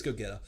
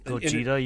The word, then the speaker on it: Gogeta: on which one was which I think it's goeta so you see goeta like dodging like a um Gogeta you mean oh yeah Gogeta you know I've